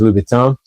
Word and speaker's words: Louboutin: I know people say Louboutin, but I'm pretty sure in French it's Louboutin.